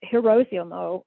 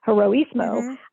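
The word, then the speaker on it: Heroísmo: given the name uh hiroshimo or hirosimo again not pronouncing it correctly heroismo which which has to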